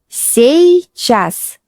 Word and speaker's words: сейчас: Pay attention to pronunciation. Сейчас.